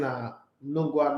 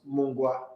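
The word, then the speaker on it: Nungua: This guy saying Nungwa, not Mungwa.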